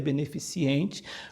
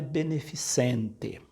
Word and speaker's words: beneficente: comentarista de pode até ler beneficiente quando na verdade é beneficente de benefício outra palavra agora a